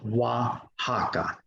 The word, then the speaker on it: Oaxaca: And as we see in this example, the X makes the J or the English H sound, as in the city of Oaxaca, spelled over here, but Oaxaca, is pronounced Oaxaca.